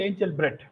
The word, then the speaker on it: Engelbrecht: Sybrand Engelbrecht pronounced as Sybrand Angel-brecht. Pronounced as Angel-brecht? Not Engelbrecht? Angel-brecht. That's how we pronounce it in South Africa.